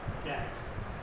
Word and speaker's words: gangue: They are called as ganj. Pronounced as ganj.